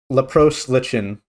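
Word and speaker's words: Leprose Lichen: And then Lepros Lichen, and yes, that's how it's pronounced.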